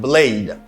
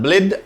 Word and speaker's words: blade: knife is blade listen I say blade blade blade a sound blade not blid I say blade repeat